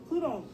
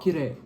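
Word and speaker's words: きれい: Kirei. Beautiful. Kirei. Kirei. Kirei. Beautiful. Kirei. Kirei. That word is Did you beautiful.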